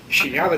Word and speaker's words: Sieniawa: How would I spell it? S-H? Sieniawa, they say in Polish.